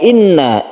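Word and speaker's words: إِنَّا: Ada inna. Inna ini adalah tasydid nun, gunnah musyaddadah, dan ini adalah berdengung. Guna artinya dengung, kita tahan cara membacanya. Jadi kita tahan, jangan langsung.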